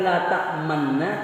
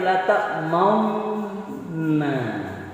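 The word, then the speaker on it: لَا تَأْمَنَّا: Jadi membacanya bukan la ta'manna tapi la ta'maunna.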